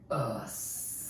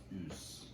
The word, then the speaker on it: Us: I think it's pronounced Oos. Oos. It's not. Jordan Peele is... I'm very frustrated. It's not. No, it's not. No, it's not Oos.